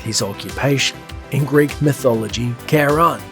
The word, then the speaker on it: Charon: universe his name is Sharon and it's a very fitting name for someone with his occupation in Greek mythology Charon spelled the same but pronounced differently is the ferryman who